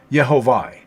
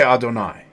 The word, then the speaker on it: Adonai: This actually says Yehovah. That's not how it's pronounced. We say Adonai.